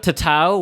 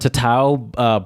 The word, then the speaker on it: tatau: Look up tatau, which is Samoan. The word tattoo is believed to come from the Samoan word tatau, brought by the first Europeans who mispronounced the Samoan word when they visited the islands inhabited by the Polynesians.